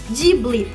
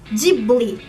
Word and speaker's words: Ghibli: do estúdio em japonês, deles adotarem o Ji e não Gi, foi devido à influência americana, já que os falantes de língua inglesa têm dificuldade de falar a sílaba Gi, então eles acabam puxando pro Ji.